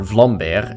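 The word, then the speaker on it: Vlambeer: Released in 2011 by developer Vlair, and yes, that's how you pronounce it. It's Dutch, Sirius Sam the Random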